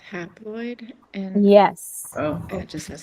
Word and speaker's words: haploid: altogether, and then for the, how you say it, hiploid, Haploid? Yep. haploid, it only has 23.